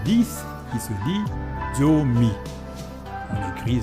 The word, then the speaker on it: zomi: Et maintenant, nous arrivons à 10 qui se dit zomi. On écrit Z-O-M-I, ça fait zomi. Parce que le Z en lingala se prononce de façon forte.